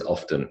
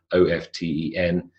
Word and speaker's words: often: said, but so-and-so says often. Yeah, it's a common mistake, but the pronunciation of O-F-T-E-N is often, like soften, by the way, another example. To make soft is to soften, silent T, whistle.